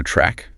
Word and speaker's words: track: And for running, you run on a track. You can be running or jogging, which is just running slowly or walking. Listen to track. That tr often sounds like crack.